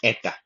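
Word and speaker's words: ἦτα: यह जो हिंदी में उच्चारण होता है, यह बेसिकली एटा का उच्चारण है।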